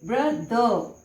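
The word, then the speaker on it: brother: और अब आता है ब्र द। और ये जो आर है चूंकि इसके पहले एक वाउल साउंड है तो ये आर साइलेंट रहेगा और ये आर यदि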